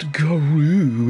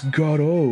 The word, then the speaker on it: Gato: It's not Garu, it's Gato.